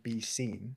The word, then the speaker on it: BSCNE: It should be BSCNE. So you can imagine Be Seen. Dope name. Be Seen, but it's spelled that way.